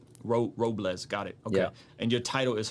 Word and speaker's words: Robles: last name ad uh it's Robles like gu as if it was a z Ro Robles got and your title